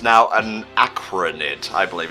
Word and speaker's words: Araquanid: Okay, it's pronounced Araquanid.